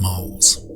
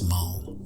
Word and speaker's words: Mul: is two on so in this video you'll hear me pronounce it as mole now I'd like to